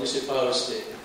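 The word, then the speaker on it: Misipawistik: And Phil asked me to pronounce the name of my community. It's called Mississippi.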